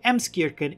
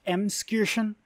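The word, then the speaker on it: Emskirchen: used to live in a small village named emskirken in franconia by editing noble here it's actually pronounced mskirschen which i didn't know that's how it's it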